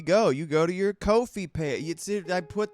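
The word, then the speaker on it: Ko-fi: Well, you see Luke, you could go to Kofi, which is how they pronounce it.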